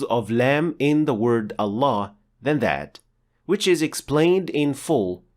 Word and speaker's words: Allah: words in Arabic specifically it will be a full mouth lamb or as we call it in English the dark L as in the word luck and pronouncing lamb like